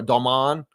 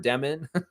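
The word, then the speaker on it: Demin: Keshan George and Igor Domman. That's what he used. That's how you pronounce that. It's not Igor Demen.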